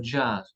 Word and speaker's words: jazz: Y terminamos con la letra Z, la letra Z que se pronuncia, muy poco tenemos, pero tenemos algunas como le gaz, el gas, y la música jazz, le jazz, ¿ok?